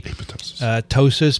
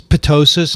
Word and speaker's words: ptosis: it that way it's obviously silent would you say ptosis potosis no okay fine and then he